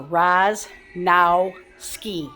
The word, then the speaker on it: Rosnowski: I mean, her last name, her maiden name is Rosnowski and which used to drive me nuts when she worked for me cuz I could not pronounce it for crap until she literally showed me on a piece of paper. Raz now ski.